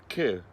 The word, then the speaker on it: Køge: It's spelt K with an O and a slash and a G-E, but you don't say all of those letters, so it's quite fun.